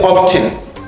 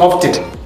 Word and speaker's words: often: You cannot say often. Some people are saying often. This T is silent.